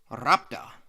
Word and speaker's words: Rhapta: and yes I looked it up it is pronounced rapta the people of this Grand City of rapta were said to use two different types of